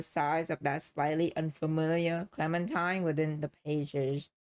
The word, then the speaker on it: Clementine: Oh, it's pronounced Clementine, not Clementine. It's Clementine.